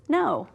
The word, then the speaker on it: know: So we have KN, and our K is going to be our ghost letter, because we know, we know, this word is know, right?